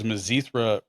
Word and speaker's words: Mizithra: turned off immediately because mazithra rhymes with the word urethra and we all know how that went for you so the zithra rhymes with urethra that is the longest